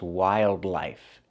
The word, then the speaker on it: wildlife: Remember the first word is wildlife. Use the i sound. Wildlife. And the second word is wi. Wilderness. The i is different.